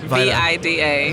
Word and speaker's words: Vida: a big deal because in Europe they told me I say my name wrong anyway. Okay. What is it then? It is Vida. Vida. V-I-D-A. Vida. Okay. I went on the Spanish, like I was thinking Vida, like life in Spanish.